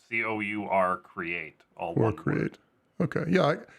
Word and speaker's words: CourCreate: And it's pronounced CourCreate. CourCreate, like as if it was CORE. But it's not.